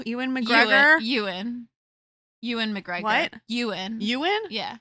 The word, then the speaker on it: Ewan: his name right e Ean Ean McGregor euan Yan McGregor yan yan yeah is it Yan yes oh my God okay it looks like Ean and it never makes